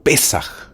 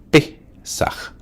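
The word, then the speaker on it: Pésaj: Y es que el pueblo judío en la fiesta de la Pascua o del Pesaj, así como suena, Pesaj, o Pesaj, aunque lleva tilde en la E, Pesaj, recuerda su paso a través del Mar Rojo.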